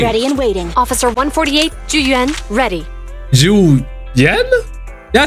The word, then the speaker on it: Zhu Yuan: Officer 148, Zhu Yuan, ready. Zhu Yuan? Yeah, I said it right. Zhu Yuan.